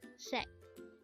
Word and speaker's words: 색: This is pronounced as a one-syllable word. Again, it's sek.